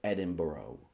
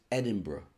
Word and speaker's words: Edinburgh: see this word don't say you're going to Edinburgh don't say that you sound like a knob it's Edinburgh right and if you see this word don't